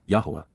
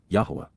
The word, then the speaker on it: Yahowah: achievements, even miraculous fulfillments, Yahowah, Yahowah, the proper pronunciation of the name of Eloah, God as directed in his Torah.